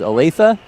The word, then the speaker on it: Olathe: phone, and I said, okay, how do you pronounce it? Is it Olathe? And he goes, Olathe? And I said, yeah, okay, Olathe.